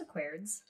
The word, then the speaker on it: Aquarids: So Aquarids? Aquarius? No, it's just Aquarids. Not Aquarids.